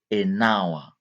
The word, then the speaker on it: hour: Here don't say a but we say an hour. Why? Because this h sounds as a vowel. This h is silent.